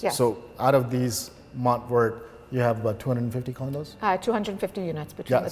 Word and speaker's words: Mont Vert: I might be pronouncing it in English, but in French it's Mont Vert.